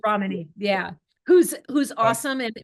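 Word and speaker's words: Ramani: this from Dr Romani Dr ramany yeah Accent on the Ramy yeah who's who's awesome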